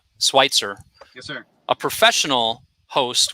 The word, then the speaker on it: Switzer: Did I pronounce that Switzer. correctly? Switzer.